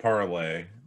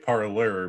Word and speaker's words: Parler: It's spelled like parlay, but yeah. It's pronounced like parlor because freedom prize.